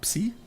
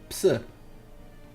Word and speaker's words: psi: We just they have psi power, so they psi. What was English pronunciation again? Of what? Psi, whatever. Psi Psi. Okay, it's psi. is without the P. The P is silent.